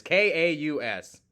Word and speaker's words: Chaos: Is that Chaos? Okay, I think that's Chaos. Or K. I don't know how to pronounce the card. It's Kaus.